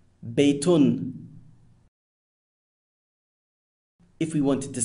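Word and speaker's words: بَيْتٌ: Now, the un sound at the end of the word is known as tanween and renders the word indefinite.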